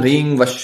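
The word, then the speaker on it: ह्रीं: अभिमंत्रित कर लेना है मंत्र का उच्चारण एकदम सही का यह रियल नहीं है ऐ अमरीन नहीं है यह रिंग है एच आर आई एन जी रिंग यह मंत्र आपको 251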